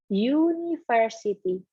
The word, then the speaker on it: university: to study in University University depannya aku Tapi bacanya pakai y University pakainya dia pakai nah